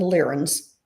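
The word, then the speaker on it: Lyrans: Emily, if you don't know what the lens are, the cat people spel and it's spelled L Y R A Ns. So it's the lens.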